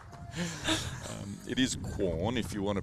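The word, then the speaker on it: Quorn: adelade it's just called corn q r n corn corn is it corn or corn well it's corn but uh you know when you're in the country you shorten it it is qun if you want to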